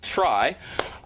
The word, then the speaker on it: trie: that this data structure called a try short for retrieval but pronounced try is meant to be a play on words of tree essentially allows you to